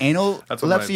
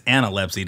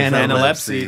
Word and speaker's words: Analepsy: It's Analepsy, dude. Whoops. Yeah. Oh. Anna's a first name. Lepsy is a last name, dude. I was shifting. Analepsy, dude.